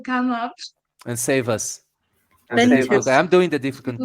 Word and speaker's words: Windhoek: And Human just texted me saying it's pronounced Windhoek. Windhoek. Windhoek. Oh yeah, so pronounced Windhoek. Very good to know. So now I know a little bit more or a little less. Yes, German.